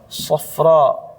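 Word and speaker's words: صفراء: Safro. Safro u. Nah, kenapa dikatakan mamdudah? Karena dibacanya panjang.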